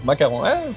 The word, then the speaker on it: macaron: Can you say macaron? Sounds like you're saying the name of our president cuz he kind of sounds like that. Macaro. Macaron.